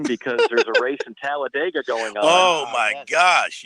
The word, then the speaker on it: Talladega: is pronounced and might remember it's pronounced talladega down there in alabama i would not want